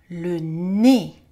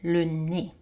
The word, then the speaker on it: le nez: La tête, le sourcil, le nez. Notice how le nez means nose, but the Z is silent, le nez.